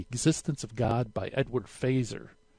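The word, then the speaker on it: Feser: of God by Edward fazer spelled F e ser but it's pronounced fazer five proofs for the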